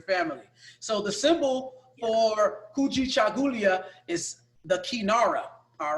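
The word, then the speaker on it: Kujichagulia: So the next word is Kuji Chagulia. Can you guys say that? Kuji Chagulia.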